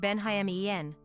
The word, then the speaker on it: Benjamin: kraski at just 18 years old Benjamin kraski pronounced benen often shortened to Benja which is pronounced Ben